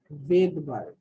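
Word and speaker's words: Svedberg: এই এসটা হচ্ছে ভেদবার্গ ইউনিট। এটা কি? এটার এই যে SVED, হ্যাঁ, BERG, ভেদবার্গ, এটার উচ্চারণ হচ্ছে ভেদবার্গ।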